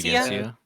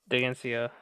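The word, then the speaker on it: Dheginsea: Is it, I can never pronounce this guy's name, Dagency? Degnesia? Digencia. Digencia.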